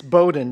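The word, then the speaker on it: Bowdoin: introduction yes it was it's Bowden because I was constantly reminded from day one when I went to college that uh people on the East Coast knew how to pronounce that College but anyway uh Ron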